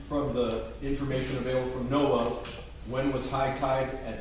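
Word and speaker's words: NOAA: So, if you would tell the jury what is Noah and how do you spell that? uh Noah NAA it's the National Oceanic and Atmospheric Administration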